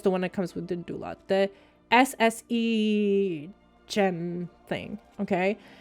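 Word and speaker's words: DynDOLOD: First of all, being I'm used to generating my loads with Dynalod, Dindulod, or why do I always pronounce it like that? Okay, Dindulod.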